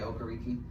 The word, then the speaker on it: Okereke: Is Okay. that how you say his name? Yeah, Okereke.